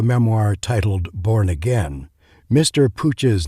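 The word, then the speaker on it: Puig: titled born again mr pooch's name is spelled p-u-i-g although it's pronounced pooch in the catalan manner you're listening to wpkn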